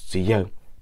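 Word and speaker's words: Chiyou: Or I don't know how to pronounce it in Mandarin, but the way we pronounce it in Hmong is Chiyo, which is literally the first and last Hmong King.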